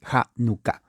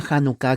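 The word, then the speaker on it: Hanukkah: pero es con h janucá la H es J se pronuncia como la J entonces la palabra janucá que ya empezó la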